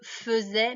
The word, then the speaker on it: faisais: On dit je faisais, mais ça s'écrit AI. Hein. Je faisais, tu faisais, il faisait, nous faisions, vous faisiez et il faisait. Donc on entend E, mais on écrit AI.